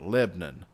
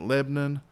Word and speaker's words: Lebanon: close to Nashville, and they pronounce it Lebanon, but it's spelled just like Lebanon. I don't know why they pronounce it Lebanon, but I've gotten into